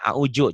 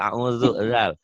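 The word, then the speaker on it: أعوذ: Sebagian orang Betawi yang belum benar bacanya auju, coba dengerin. Coba ya. Kalau orang Sunda audu. Termasuk saya dulu audubillah ya. Padahal auzu.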